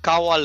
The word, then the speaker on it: kawal: மலாயில வந்து காவால் சொல்லுவாங்க. காவால், காவால் உச்சரிப்பு தான் கொஞ்சம் மாறும். அதோட எழுத்து வந்து KAWAL, காவால் அப்படி வரும்.